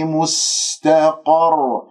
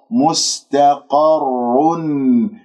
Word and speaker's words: مستقر: مستقى، مستقر، الراء مشددة فأنه يحدث عندك تكرير، هذا خطأ. مستقر خطأ، أو مستقر هكذا أنت ما قرعتها، فننتبه أنه أقرع الراء ولدي تنوين جاء بعده واو إدغام بغنة.